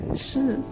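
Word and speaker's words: 士: It is pronounced as shi with 2 different wording in Mandarin of the opposite chess.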